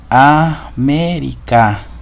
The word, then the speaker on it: América: América. Tenemos en la antepenúltima sílaba la mayor fuerza de voz o la sílaba tónica.